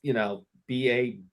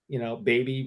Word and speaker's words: Babby: Ruth, but it's spelled, BABBY, Baby Ruth, we got that one. All right. But if we have a real question, That's Babby. It's not baby.